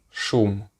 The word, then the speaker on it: шум: And an English Russian word for this would be shum, shum, shum, which means noise, loud noise. Shum, shum, sh, shum.